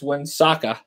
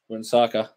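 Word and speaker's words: Huesca: and I always say that name, but it's Wensaka. Even though it's spelled H-U-E-S-K-A, it's pronounced Wensaka.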